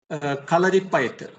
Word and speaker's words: Kalaripayattu: Once again, you pronounce that word? Kalaripayattu.